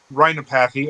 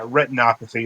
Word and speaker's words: retinopathy: check my eyeballs for diabetic rhinopathy or retinopathy, or however you pronounce that. Mm-hmm. And it's like, wouldn't that have something to do with your nose? No, like I said, I forget the pronunciation of like retinopathy, something like that. Retinopathy. Yeah, retinopathy. There we go.